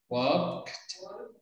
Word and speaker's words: walked: Walked, porque no vas a pronunciar la L.